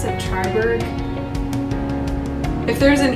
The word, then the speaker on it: Triberg: Is it Triberg?